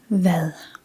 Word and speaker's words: hvad: It is hvad, which means what.